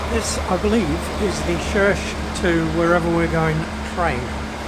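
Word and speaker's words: Rzeszów: How do I know it's pronounced Rzesz?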